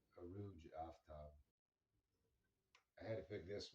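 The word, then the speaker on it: Arooj Aftab: She's Pakistani, and I believe her name is just pronounced Aruj Aftab.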